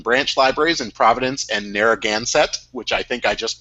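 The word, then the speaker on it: Narragansett: of Rhode Island Branch libraries in Providence and narraganset which I think I just pronounced correctly did I get that right Joanna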